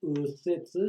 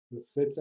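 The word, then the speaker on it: 右折: E esse kanji se pronuncia apenas u. Viu aqui em cima? U ou u.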